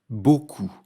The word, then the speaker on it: beaucoup: Beaucoup. Dans ce mot, il ne faut pas oublier la lettre P muette à la fin.